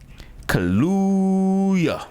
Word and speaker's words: Kaluuya: Man, it's Daniel Kaluuya.